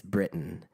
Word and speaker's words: Britton: It's Britton. People just hear the first syllable and brain creates Brittany.